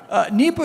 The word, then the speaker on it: Nipah: A couple of questions, actually, from the audience about and I'm sorry, I don't know the correct pronunciation of this. Is it Nipah or Nipah? Nipah.